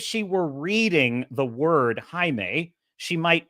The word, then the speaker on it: Jaime: were reading the word Jaime she might mispronounce it because in English the J makes a j j sound phonetically in English J makes a j sound why do English-speaking people